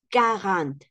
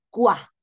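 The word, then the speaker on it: quarante: Okay this V trant carant aquí no es cua escuchen no es cua sino que la Q en francés suena a k carant en la otra Sant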